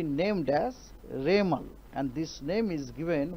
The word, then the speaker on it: Remal: और साइक्लोन जब बनेगा, साइक्लोन बनने का बाद उनको नाम होगा रेमल, प्रोनाउंसिएशन होगा रेमल, उसका स्पेलिंग है REMAL, रेमल।